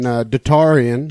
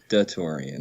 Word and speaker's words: DaTaurean: it de Torian it's it's supposed to be like the Taurus the Korean okay just da de Torian that's all so kind